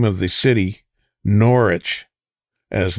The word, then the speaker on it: Norwich: So, if you don't want people calling it Norwich, take the W out of the word.